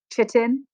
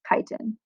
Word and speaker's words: chitin: a polysaccharide is called chitin which is pronounced like kite in um it looks like chitin it's not it's chitin um and this is